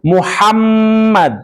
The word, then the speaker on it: Muhammad: ya karena harus bertasdid lafaznya juga harus Muhammad Muhammad cara bacanya harus dikuatkan Nah yang kedua contoh